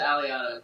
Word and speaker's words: Aliotta: website, and I have with me today Aliotta. I said that name right? Yeah, close enough. Usually we pronounce it Aliotta, but... Aliotta, okay.